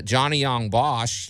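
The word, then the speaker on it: Johnny Yong Bosch: do a lot of different stuff and uh johnny young bosch he's uh did i say his name right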